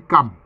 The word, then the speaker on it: Cham: Quelquefois, ça s'écrit en français Cham, C-H-A-M. Mais en fait, ça se lit Cam. Ça se lit Cam.